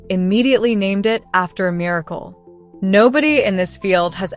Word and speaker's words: MRKL: In May 2022, AI21 Labs published an architecture called MRKL, spelled M R KL, and pronounced on purpose, exactly like the word miracle.